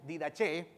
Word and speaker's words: Didache: Ese documento se conoce como la Didache o la Didache o la Didache. En latín, algunos lo pronuncian en español, no nos vamos a complicar la vida, diremos Didache.